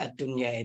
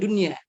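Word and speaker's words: الدنيا: Tapi kalau bagi mereka yang tidak paham dalam bahasa Arab ya, ini tidak akan mengelabuin bahwasanya di sana itu tulisan daripada ad-dunya itu ya bukan dunia ya.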